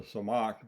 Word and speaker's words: Tzemach: Jeremiah prophesied that the Messiah, or the Samach, that's spelled in Hebrew Tzemach, Samach, the T is silent, would be a king out of the lineage of David.